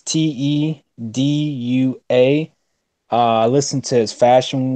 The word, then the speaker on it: Tedua: The first guy I would say is Tedu. I'll spell it out. It's Tedua.